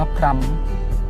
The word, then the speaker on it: พรหม: หัน อากาศ ด้วย นะ อาจารย์ ว่า พลัม เพราะ ว่า จะ ได้ สด คล้อง กับ คำ ว่า ธรรม แดน ศิลป์ ถิ่น ธรรม